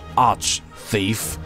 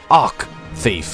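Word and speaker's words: Arch-Thief: it should be pronounced arc thief and arc make an arc bishop but it's there's an H in here it's not arc its arch so not you anyhow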